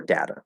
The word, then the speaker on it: data: okay so um well data has two pronunciations it's data or data it doesn't matter they're they're both perfectly fine variations and i use